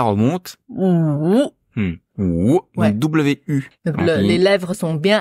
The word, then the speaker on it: 五: Donc W-U. Donc, les lèvres sont bien arrondies. Ou. Donc, ou. Ou. Après, c'est assez facile. C'est comme en français, le ou, O-U, ou.